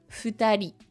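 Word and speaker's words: ふたり: Les deux ensemble, ça se prononce futari.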